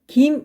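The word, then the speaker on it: 金: 알아도 자 할게 쌕 금을 사람의 성씨의 사용할 때는 김 이라고 발음합니다 성기 입니다 기억해주세요 김씨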